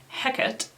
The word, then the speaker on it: Hecate: and, just references her, that Shakespearean pronunciation, Hecate, is one way that people pronounce her name.